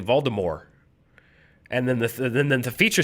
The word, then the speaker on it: Voldemort: Although I was reading in the Harry Potter audiobooks, they say Voldemort. And then the feature said Voldemort. Wrong. So there's a pronunciation problem. He's using the original French. It's Voldemort.